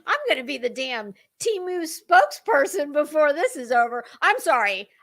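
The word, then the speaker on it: Temu: but not here we we call it Teemu and since we are probably um the currency that is supporting it well I think you should go with our pronunciation okay so I will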